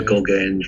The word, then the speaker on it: Gogaine: I bought a drug called Gogaine from a head shop, and Gogaine rhymes with cocaine, so you can guess it's a stimulant.